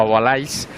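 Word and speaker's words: Hugo Houle: Y yo decía que estaban pasando todos, pero me da la sensación de que Agualé también, o Agualais, me han dicho que exactamente se pronuncia así, que es el que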